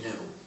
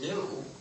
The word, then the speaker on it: GNU: name of our system please do not follow the dictionary you've got to pronounce it right pronounce it gnu if you pronounce it new if you talk about